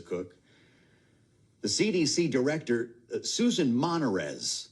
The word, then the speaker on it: Monarez: The CDC director, Suan Monarez, that's how you say her name, is Monarez, first syllable.